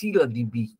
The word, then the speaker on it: ScyllaDB: Actually, it's pronounced scylladb.